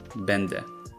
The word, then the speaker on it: będę: N is fully nasalized in the middle of a word, prędzej, but is pronounced as a regular e at the end, będę.